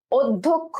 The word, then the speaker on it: অধ্যক্ষ: উচ্চারণে কি হবে দেখো, তাদের উচ্চারণে এই অ এর যে উচ্চারণ, অ এর যে উচ্চারণ সেটা কি হবে, ও এর মতো হবে, ও এর মতো হয়ে যাবে উচ্চারণটা, ঠিক আছে। অর্থাৎ অধ্যক্ষ, আমরা বলি কি অধ্যক্ষ, ও অধ্যক্ষ, ঠিক আছে।